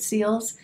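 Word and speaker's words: Cils: lancome seals booster xl i'm not sure you pronounce it seals it's c-i-l-s excited about this i've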